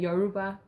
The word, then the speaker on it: Yoruba: It's the RU that you're like. Yoruba. No, Yoruba. Yo. Ru. Ba. Yeah, Yoruba. You're still saying Yoruba, but it's Yoruba.